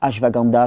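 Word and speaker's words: Ashwagandha: une troisième plante qu'on appelle l'ASH vaganda hein hash vaganda c'est une plante une plante qui est d'origine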